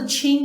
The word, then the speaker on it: Qing: Heart stone carving goes way back in Chinese art history more than 4,000 years ago, but it wasn't until the Qing (pronounced: Ching) Dynasty that this practice really took off.